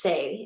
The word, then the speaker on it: Tse: It's pronounced Tse. It's spelled T-S-E.